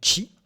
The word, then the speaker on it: qi: QI, qu'on peut prononcer Chi.